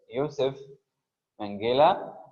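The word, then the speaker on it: Josef Mengele: food starvation was come Yousef mangila if we pronounce it in the German Way YF Mela notorious notorious means Infamous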